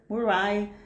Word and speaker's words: Murray: Ela é bolsista do Cambridge Trust e está afiliada ao Murray, depois ela vê essa é a pronúncia, Murray Edwards College, um, um, um college exclusivo para mulheres.